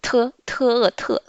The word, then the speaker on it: 特: Le T, on a déjà vu avec 听见. Donc, te.